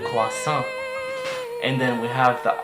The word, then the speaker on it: croissant: So in English you would say croissant, but in French you would say le croissant, le croissant.